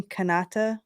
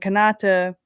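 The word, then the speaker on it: Kanata: romance more because then what's his name Kata is how you say it uhuh yeah so he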